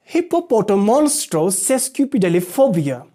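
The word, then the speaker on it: hippopotomonstrosesquippedaliophobia: simplify it for you by breaking it into different unities okay it says hippopoto monstro cescu phobia okay and this is the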